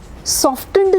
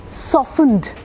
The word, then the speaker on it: softened: SOFT, सॉफ्ट, हाँ ट आ रहा है, लेकिन जैसे ही SOFT के आगे कहानी चली जाती है ना, T साइलेंट हो जाता है। SOFTENED, सॉफ्टेंड नहीं है या सॉफ्टनर नहीं है, सॉफ्टनड, सॉफ्टनर, सॉफ्टनिंग।